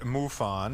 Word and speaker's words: MUFON: You and MUFON, is that how it's pronounced? M-U-F-O-N? Yeah, it stands for the Mutual UFO Network.